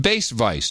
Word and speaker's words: Bacevice: I'd prefer the title Sir Bass Vice, pronounced Bass Vice. 2 syllables, very simple.